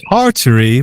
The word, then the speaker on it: Tartary: It's supposed to be Tartary, but I guess when you talk about it as like everyone always talks about the Tartarians in the Tartarian Empire.